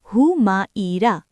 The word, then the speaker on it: হুমায়রা: উচ্চারণ হুমাইরা। ইংরেজি বানান হিউমাইরা, হিউমেরা, হুমাইরা।